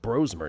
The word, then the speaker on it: Brosmer: perhaps Josh Johnson for Washington, Max Bromer, we're learning it's called, it's pronounced Brosmer now, Max Bromer for the Vikings, and Chris Atlaticanin of the Kansas City Chiefs.